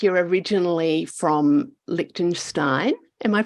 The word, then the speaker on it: Liechtenstein: Jess, tell me, as we can tell from your accent, it doesn't sound like you're originally from Liechtenstein. Am I pronouncing that right?